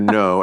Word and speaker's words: Ngo: No, and Mr. No's last name is spelled G-N-O, correct?